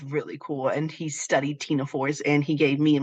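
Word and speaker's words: Ctenophora: you have the philm Tina for um so yes you don't pronounce the c um some of you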